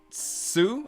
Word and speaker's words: Tju: I will say too that, and I really should note this, like, with big emphasis, that Brianne Sue, I believe how you say her name, TJU, fantastic.